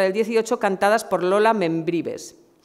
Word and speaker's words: Membrives: actriz y cantante Lola Membrives. Este apellido siempre me cuesta un montón pronunciarlo. Membrives, es que es Membrives. Sí, yo pensaba que era Membrive, porque como lo de Membrive, no, es Membrives.